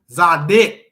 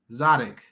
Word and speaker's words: Zadok: Zadik. Wait, that's an O. Zadok. Duck. It says D-U-H-K. That's how you pronounce it.